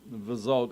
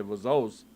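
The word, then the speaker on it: וזאת: so that they know when we're talking about vazot and you say vazos, it's because of the Ashkenazic pronunciation. They pronounce the tav as an S sound.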